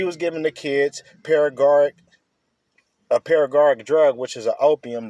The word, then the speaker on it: Paregoric: Paragoric. It's spelled Paregoric.